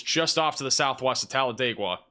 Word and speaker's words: Talladega: big- Time tornado right now moving Northeast towards Talladega guys I got it you're welcome got the pronunciation yeah this this is a big time